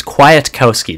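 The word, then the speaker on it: Kwiatkowski: quiet-quiet to KO ski it's quiet Kowski that's how you say it and he's an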